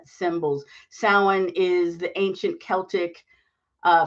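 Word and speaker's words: Samhain: traditional day of the dead or S symbols sa is the ancient Celtic uh Festival that later became Halloween sa is spelled s a m h i n s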